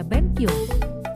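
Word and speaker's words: べんきょう: Contoh, benkyu dibaca benkyo, belajar.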